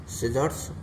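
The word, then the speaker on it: scissors: Sceptre, सिजर्स, ऐसे कई अक्षर ऐसे होते हैं जो जिनमें सी का साइलेंट होता है, सी। जैसे एस के बाद सी आया है तो ये साइलेंट है, एस के बाद सी आया है तो ये भी साइलेंट है।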